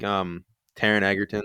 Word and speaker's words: Taron Egerton: I still think Taron Egerton, I pronounced it right that time.